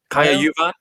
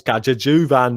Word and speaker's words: Kaja Juvan: Pronouncing the J every time is probably completely wrong. Kaja Juvan sounds a bit pikey. Sounds very me, probably. It's Kaja Juvan, mate.